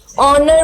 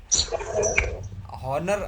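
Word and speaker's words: honour: में, हाँ जैसे कि ऑनर बोलते हैं तो ऑनर में H नहीं होता, वो साइलेंट रहता है, ऐसी साइलेंट। अच्छा हॉनर, हाँ ऑनर क्या नाम है उसका?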